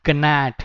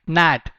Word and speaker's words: gnat: This is not gnat. G is silent over here. You have to speak it like gnat.